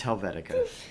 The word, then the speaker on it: Helvetica: have said what that's okay is that you pronounce that because hold on yes yeah it's Helvetica it's hard for normal people to say I